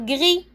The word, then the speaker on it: gris: le s voilà glee avec un s à la fin qu'on ne prononce pas profond maintenant profond alors